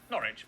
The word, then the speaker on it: Norwich: pronounced leicester worcester gloucester w at the start of the final syllable is silent norwich beric southward er is